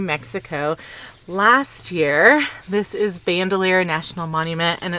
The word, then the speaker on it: Bandelier: an ironic story that it is pronounced Bandelier because they were afraid that Anglo-Americans would not be able to pronounce Bandelier.